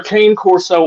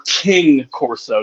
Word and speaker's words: Cane Corso: you know right well it's either Cane Corso or king corso depending depending on how rural you get exactly exactly true everybody